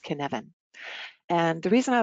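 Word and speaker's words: cynefin: it would be pronounced in ofin but it's actually a Welsh word that is pronounced kin Evan and the reason I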